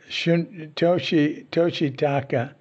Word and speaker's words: Toshitaka: Toshitaka was the Japanese pronunciation of Shunryu. Shunryu was the Chinese type pronunciation of those terms, the more formal pronunciation.